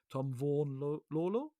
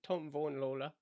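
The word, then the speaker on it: Vaughan-Lawlor: It's going to be me not pronouncing things correctly. Tom Vaughan-Lawler? No. Did I get that right or wrong? No, that was right. Tom Vaughan-Lawler.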